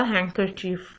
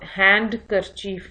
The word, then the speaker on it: handkerchief: हैंकरचीफ का मतलब है रुमाल को कहते हैं, और इसमें जो ड साउंड है दैट इज साइलेंट. इसको आप हैंड करचीफ नहीं पढ़ेंगे, हैंकरचीफ. डी साउंड प्रोनाउंस नहीं होती.